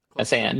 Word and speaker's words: Messiaen: For the selection for this this segment, we have a piece from Olivier Messiaen. Did I pronounce that right? Messiaen, yeah.